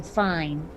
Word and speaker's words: Fiennes: I mean, I don't know if anyone remembers the actor Ralph Fiennes, but his name looks like it's spelled Ralph Fiennes. Pretty sure he's mispronouncing fine.